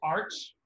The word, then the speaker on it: Arches: By Arches. By a company called Arch, which is spelled Arches.